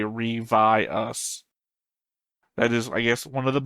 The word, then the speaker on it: Ryvius: We have Alex in the chat saying, okay, I just looked it up, the pronunciation would be Revi us.